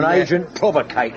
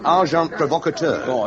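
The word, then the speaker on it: agent provocateur: sending uh well probably you wouldn't know the term and agent provocator s amazing packer the pronunciation however is arjant provocator it don't matter how you say it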